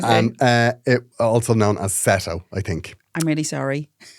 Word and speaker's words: Seto: Pronounced Seto.